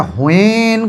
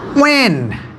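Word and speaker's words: when: এটা হোয়েন করি, এটা কিন্তু ভুল। এটা হোয়ার করি, এটা কিন্তু ভুল। এটা হোয়াই, এটা হোয়াইল উচ্চারণ করি, এটা কিন্তু পুরোপুরি ভুল।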